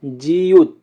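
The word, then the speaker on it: 지읒: তারপরে আছে জিউত, জিউতের উচ্চারণ হবে স, জ এবং ত এর মতো, সিউত।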